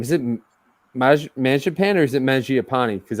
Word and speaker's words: Mangiapane: I think it's Mangiapane. I think is actually how you properly pronounce it. All right, so because Marziapane, it's literally how it's spelled, and I think somebody just scored.